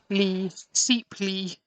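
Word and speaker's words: Sapele: I'm now getting told off because it's pronounced Seeply.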